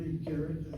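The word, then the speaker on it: אִגֶּרֶת: The word itself, as we review it, you start with the aleph, you have the chirik underneath the aleph, and you stop with that concept. A chirik is a short vowel. The short vowel should be part of a closed syllable. That's what goes through your mind right now. And so you'll notice there's a dagesh in that gimel.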